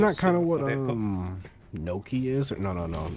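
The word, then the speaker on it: gnocchi: it is it like that or Noki. It's pronounced Noki.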